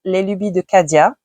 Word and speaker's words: Les Lubies de Cadia: put here because I'm going to pronounce this in French, is Les Lubies de Cadia.